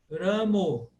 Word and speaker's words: Rama: Hare Ramo, Hare Ramo, porque essa é a pronúncia da Bengala. Na Bengala se canta assim, na Bengala o A breve virou O, é por isso, é simples assim.